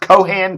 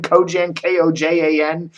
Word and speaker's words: Kojan: It's pronounced Kojan, Kojan.